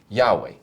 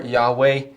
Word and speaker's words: Yahweh: Haya or Yahweh, you can hear that it's the same root verb.